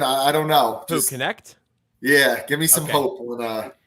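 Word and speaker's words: Knecht: Dalton Connect.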